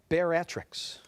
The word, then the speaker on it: bariatrics: Bianca, spell bariatrics. A branch of medicine that deals with the treatment of obesity. Let me correct the pronunciation of that. Bariatrics.